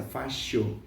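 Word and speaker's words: fascio: na Itália que deriva da palavra italiana fácil a pronúncia correta seria essa fácil que remetia para uma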